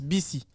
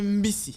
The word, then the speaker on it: mbisi: Et souvent, pour dire bus, on prononce Bisi. Donc, si tu dis Bisi, les gens vont penser que tu parles du bus. Donc, il faut bien préciser Mbisi.